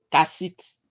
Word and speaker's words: Kassite: Ça s'écrit K-A-2-S. I-T-E. Kassite.